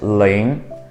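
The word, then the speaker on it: 零: But if there are numbers after 0, you just simply read out 0 as ling, L-I-N-G, second tone ling.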